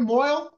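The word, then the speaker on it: mohel: yeah all right a mo do I what is anybody here a mo we need a mo I don't know why it's pronounced Mo if it's moel in Hebrew it's never made any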